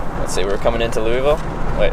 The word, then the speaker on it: Louisville: Let's see, we're coming into Louisville. Wait, how do you say it correctly? Louisville. Louisville. Louisville. Louisville. Yep. The S is silent.